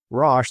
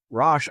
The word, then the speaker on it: Rasch: Roche, this is spelled RASCH, Roche analysis revealed a unidimensional hierarchy of 14 coherent items with strong internal consistency and minimal gender-related response bias.